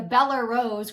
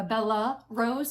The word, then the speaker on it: Bellerose: I've been calling it the Bellerose and it's the Beller, E-R, Bellerose.